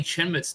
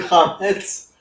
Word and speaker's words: chametz: if you got any chin mitts to offload, especially Scotch, I can take it. You mean chametz? Chametz.